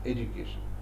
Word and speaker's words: education: And Americans pronounce education, education, j, rather than d. And British pronounce it as education, d, and j.